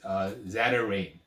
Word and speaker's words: Zatarain: Like when I did the episode with the Zatarain product, it was pronounced incorrectly, is Zatarain. And had the owner of the company contact me saying, please do not mispronounce my company product.